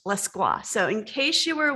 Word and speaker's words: Lescroart: in english literature oh and his name is pronounced la squash so in case you were wondering it's not less grow art or any other iteration opposite of more claw